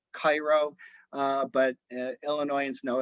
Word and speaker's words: Cairo: that is the the the most southern point c-a-i-r-o looks like it's cairo uh but uh illinoisians know it's pronounced as cairo illinois and that's uh that's